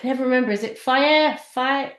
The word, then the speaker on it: Fage: Fire. It's spelled Fage, but it says on the side Faye.